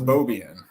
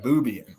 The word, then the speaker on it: Bobian: Because my last name is Bobian. Yeah. Uh-huh. So it kind of looks like Boobian. Like if you're not intelligent, which most Marines aren't, you don't know how to pronounce.